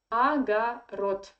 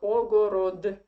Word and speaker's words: огород: And the last D, according to Russian phonetic system, you should read like T. When you see D in the end of the Russian word, you pronounce it like T. Agarod, not ogorod. Okay, and let's talk about another.